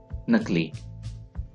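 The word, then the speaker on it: know: जाली, नकली। नो, नो जानना, के इज साइलेंट, नो जानना।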